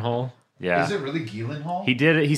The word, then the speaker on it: Gyllenhaal: gu uh Jake Gillen Hall in it Jake Gyllenhaal why do you pronounce it that way it's not pronounced Gyllenhaal ghal yeah is it really Gillen Hall he did it he said it on a